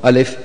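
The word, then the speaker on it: ألف: pronunciation and T of alif is written like Hamza and alif and Fa So we say alif that's how you would read it you won't say ah because that's not how we read likewise lamb is is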